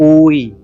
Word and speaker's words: กูย: ยัง ออก ง่าย กว่า แต่ กูย เนี่ย จะ ต้อง กด เสียง ให้ ต่ำ ลง ไป เพื่อ รับ สระอู แล้ว ก็ สะกด ด้วย ยักษ์ ซึ่ง มัน ฝืน ธรรมชาติ